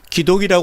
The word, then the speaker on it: 기독: 기독이라고 하는 것은 그리스도를 한문으로 발음할 때 기독이라고 하는 것입니다.